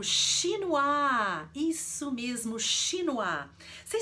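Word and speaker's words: chinois: gastronomia do Brasil qual que é é o Shino a isso mesmo Shino a sem saber o que que é um shinoar quem é da área da Gastronomia Com certeza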